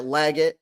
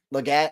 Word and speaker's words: Legette: um I will say that legot Legette or legot however y'all want to call or Legette um Everybody pronounce it weird with different ways I just say leg it so um I will